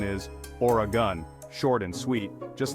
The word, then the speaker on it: Oregon: to this Pacific Paradise remember it's or a gun no extra syllables needed our next destination